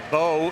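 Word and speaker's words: Beaux: Doug Bo is spelled B.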